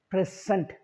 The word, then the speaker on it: present: z n t so since is a noun I said present when it comes to a verb the first syllable is p we don't stress